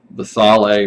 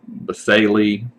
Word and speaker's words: basale: It's at the base, so it's called the stratum basale or basale. You'll hear different pronunciations for that.